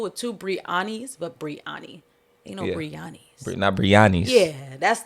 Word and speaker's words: Breyanni: uh because my name ain't brianna is coming but brianna and the way mine is spelled if i see somebody like even sometimes